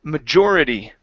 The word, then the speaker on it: majority: you is the word majority the stress is right here on the o r the majority of the